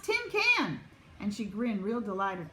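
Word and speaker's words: cinquain: at the word and it was spelled see I NQ u AI n does anyone want to try and pronounce this hmm does anyone want to sound it out may jumped right up Tim can she said it's pronounced Tim can and she grinned real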